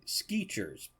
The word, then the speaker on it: Skechers: There's no T in Skechers. It's more like Skeechers, but only one E in the first syllable.